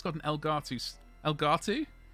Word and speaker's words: Elgato: it's got an elgato elgato rhymes with mugatti uh stamp on it